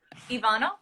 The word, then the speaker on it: Ivana: Ivanna.